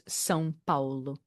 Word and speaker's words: São Paulo: Sao Paulo, or is that how we say it? Sao Paulo, or is it how's it pronounced? Well, if you want to get like very specific, it's São Paulo.